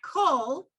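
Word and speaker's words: כל: Right, and that kol is a kamatz katan, right? So even though it's a kamatz, you're pronouncing it o.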